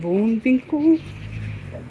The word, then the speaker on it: Wohnwinkel: I believe it's pronounced Wohnwinkel. It looks like Wohnwinkel, but I think the W's are pronounced like V's.